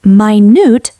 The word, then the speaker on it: minute: This word has two pronunciations and meanings. The first meaning is a unit of time. 1 minute is 60 seconds. But, minute, pronounced minute, means extremely small.